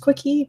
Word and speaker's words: Kiche: It's pronounced Quickie, but it's spelled like quiche.